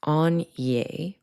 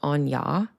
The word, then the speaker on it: Áine: I think it is pronounced Áine or Anya, and it's spelled Aine.